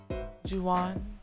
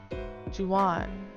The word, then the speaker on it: Juwan: Ju, like juice. Juwan. Wan, like past tense of when. One. Or Wan. Juwan.